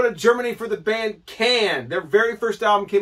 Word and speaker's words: Can: Can is the group, and I'm pretty sure it's pronounced Can and not Con, because on the German